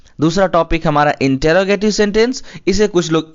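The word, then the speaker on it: interrogative: हैं दूसरा टॉपिक हमारा इंटेरोगेटिव सेंटेंस इसे कुछ लोग इंटेरोगेटिव बोलते हैं कुछ लोग इंट्रोगेटिव बोलते हैं तो साथियों यह दोनों ना बोल करके आपको बोलना चाहिए इंटेरोगेटिव सेंटेंस तो इंटेरोगेटिव बोलने से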